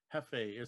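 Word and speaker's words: Jefe: Hefe was in it, and it was about luchador wrestling. And there were little belts that came with. El Hefe? Hefe.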